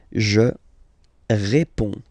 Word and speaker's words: je réponds: Je réponds. Je réponds. Okay, so you can see that D and S here are not pronounced.